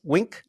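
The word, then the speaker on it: Qwik: ¿Cómo se pronuncia? ¿Wink? ¿Es Quick? ¿El framework? Quick, Sí, ok, Quick.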